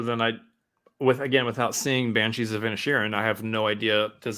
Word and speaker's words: Inisherin: How do you pronounce that? Inisherin.